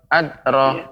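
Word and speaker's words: أدرى: Ya, kemudian pengucapan huruf dal masih perlu diperbaiki lagi, yaitu tidak boleh seperti ada huruf hamzah. Adra, tidak, akan tetapi adra, wa ma adra.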